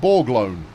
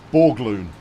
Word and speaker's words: Borgloon: Borgloon is pronounced Borglone. No, it isn't. That's Borgloon. That's way more interesting.